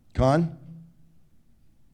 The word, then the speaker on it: Cannes: So in my case, I got to go to Cannes, you decide, Cannes, C-A-N-N-E-S, experts, linguists. Keith is a linguist, he probably knows how to pronounce it. Con? Easy for you to say.